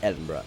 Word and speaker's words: Edinburgh: Yes, it is pronounced as Edinburgh because the city is the capital of Scotland.